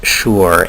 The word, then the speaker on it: shi: shore Elite uh it's it's spelled Shi but it's pronounced sure and it's a really